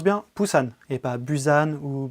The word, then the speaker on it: Busan: du dernier train pour poussins et ça se prononce bien pusan et pabu than ou busan ce long métrage réalisé par iouchtchenko est sorti